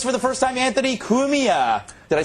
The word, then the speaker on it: Cumia: and with us for the first time Anthony kumia did I say it right yes you did